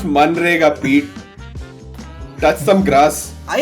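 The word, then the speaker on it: MNREGA: The real MG and REGA scheme of the startup world. Guaranteed employment, guaranteed carry. It's pronounced Manrega, Pete.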